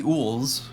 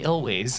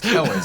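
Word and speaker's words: Elwes: Carrie Ools is in this movie, unfortunately, and he's amazing. We love him. Oh. But... Carrie Elways. Elways, excuse me. I always try to make it one syllable.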